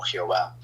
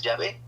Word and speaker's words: Yahvé: Dios y por tanto comenzaron a pronunciar el nombre como Jehová. Pero en realidad los judíos nunca usaron el nombre de Jehová porque no corresponde a la pronunciación original. Quiere decir entonces que el realmente el nombre que Dios se ha dado a sí mismo es Yahvé.